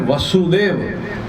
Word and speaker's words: वासुदेव: नहीं है वासुदेव के बेटे पिता का नाम है वसुदेव और बेटे का नाम